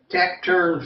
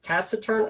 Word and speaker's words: taciturn: I think it's Taciturn. I had to look online. I had to go on Google to figure out how to pronounce this. Taciturn. Mm-hmm. taciturn. I heard they showed the pronunciation in English and in British English.